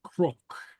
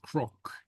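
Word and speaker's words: cnoc: Beyond tur so anyway and that n sounding like an R occurs elsewhere you have a word like crook Hill it's pronounced something like crook something like that pronounced crook the CN or the GN is uh pronounced like a a like a CR or G okay and so the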